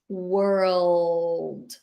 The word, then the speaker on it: world: You can try to say were plus old. And remember that what happens with this L, it's your tongue go behind your teeth like that. World. World. You kind of roll Here, your tongue a bit. behind. Yes, you roll it and it goes behind your teeth. There is a small stop over there.